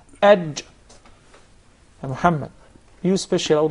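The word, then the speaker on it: ج: Not ag. Yes. There is no gim in Arabic. It is aj. Aj. Aj. It seems like it comes from the middle of the mouth. Aj.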